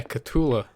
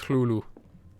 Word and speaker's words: Cthulhu: arm i do yeah katula weird and then of course allegedly the correct way to pronounce it is hulu um but you know cthulhu is just that little bit nicer i went to the